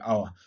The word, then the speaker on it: hour: at in the word hour so some of the words we have in this area we have power and hour so remember in the hour that we have here the H is silent so we ignore the